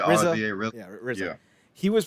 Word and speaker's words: RZA: Ironically enough, alongside, is it Raza or RZA of the Wu-Tang Clan? I don't always know how to pronounce that name. Yeah, RZA.